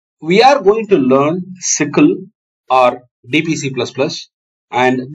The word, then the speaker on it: SYCL: and DPC plus plus sickle it's pronounced as s-i-c-k-l-e-sical and DPC plus plus